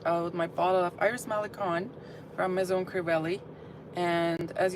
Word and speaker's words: Malikhân: And I've been saying it wrong, saying it wrong the whole time. But it's not Iris Mikon, it's Iris Melon.